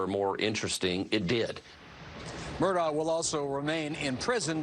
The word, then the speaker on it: Murdaugh: How does the man himself pronounce his last name? Murdaugh. Murdaugh. Right. Murdaugh, right? It's like a low country speak.